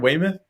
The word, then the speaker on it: Weymouth: I think that was is that how you say it, Weymouth?